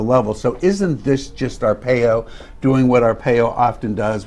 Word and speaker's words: Arpaio: it's just brett favre being referred to joe arpaio and that's how pronounced by the way make sure everybody knows